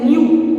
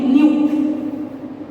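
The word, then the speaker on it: ν: Frequency को represent जो किया जाता है ना, ये भी ग्रीक लेटर है, इसको कहते हैं न्यू, एन क्यू, ऐसे करके रिप्रेजेंट होता है, ऐसे क्या कहते हैं इसको, एन यू, एन यू, न्यू।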